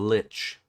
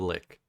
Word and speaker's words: Lich: The Lich. Not the Lick.